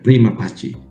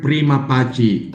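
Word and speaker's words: prima facie: The word prima pachi is latin. So sa latin ang letter C ay ch parang chak chaleko ganon.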